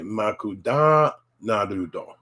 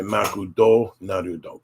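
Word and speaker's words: マクドナルド: I wanted to say da. So I would say makuda narudo. And often people wouldn't understand that either. So you got to say makudo narudo.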